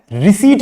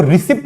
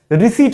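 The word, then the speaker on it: receipt: आपको रिसिप्ट नहीं मिलता है, आपको क्या मिलता है, रिसीट मिलता है। यहां पे भी पी जो है, जो कि टी के बाद आया है, वो क्या होता है, साइलेंट होता है।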